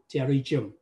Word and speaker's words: pterygium: Nói chung nó là pterygium. Thì nhắc trở lại, chữ P nó không có phát âm.